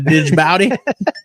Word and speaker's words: Djibouti: Jeff Warner said I'm taking my Take Warrior fishing jersey to Djibouti with me to wear. What? Djibouti. Why is there a D in it, though? Isn't it Djibouti? The D is silent. The Djibouti?